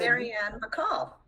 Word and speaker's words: Marian Bacol: Maryannne Beall. Marian Beall. You said your name before me in case I didn't mispronounce it.